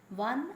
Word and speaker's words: one: always a is used so one eyed man so o is a vowel okay but still the sound there it sounds as if it is a consonant so hence we use